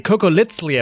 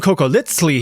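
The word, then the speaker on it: Cocoliztli: If you watched my video about surviving the Aztec Empire, you know that funny little TL pronunciation, the sound is on purpose.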